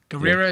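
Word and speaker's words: Gurira: Just Okoye, played by Denai Guerrera. Guerrera, is that how you really pronounce it?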